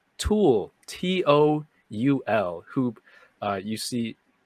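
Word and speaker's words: Toul: it's it's funny because it's pronounced tall and every time it sounds like when my parents say Paul Paul so I kept hearing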